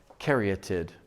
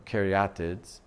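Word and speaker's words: caryatid: categories of architecture called karyatid it sounds like some kind of grasshopper but a karyatid is spelled c-a-r-y-a-t-i-d karyatid keriyatids or karyatids is a form of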